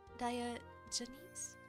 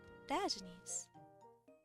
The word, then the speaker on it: Diogenes: let me see if I can't find a pronunciation guide on that products diagonies oh diogenes diogenes okay diagnis I must learn more about this diogenes and